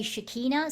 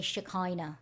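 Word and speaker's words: Shekinah: energy of shakina and it's spelled s h e k i n a h some people say shikina some people say shakina I'm going to for our purposes say shakina all right the they contain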